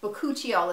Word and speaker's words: bakuchiol: saying that right however bakuchiol boccuccio is how you say it with boccuccio um so